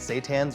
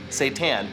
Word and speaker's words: Seitan: of its meat substitute, Seitan, which some pronounce Satan and associate with heavy metal rock and roll, but it's anything but that.